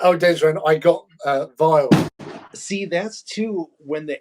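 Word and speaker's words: Vejle: for directions to a place um which we pronounced as vage because it was a and everyone's looking at us going huh and then they said no no no it's called vile and i'm like but you've got a j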